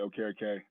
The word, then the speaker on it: Okereke: Just, we're going to pronounce it Okereke.